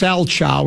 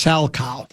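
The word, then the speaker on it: Salchow: It's not a schow, it's pronounced sow.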